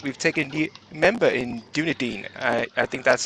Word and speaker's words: Dunedin: season 10 and we've taken the member in Dunedin I I think that's how you pronounce it uh sorry if I put that Dunedin Dunedin yes Corbin will aggressively correct uh still salty